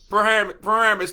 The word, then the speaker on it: Paramus: How do you pronounce it there, special guest? Paramus.